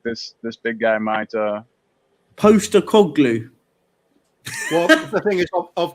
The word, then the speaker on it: Postecoglou: It's pronounced Postecoglou.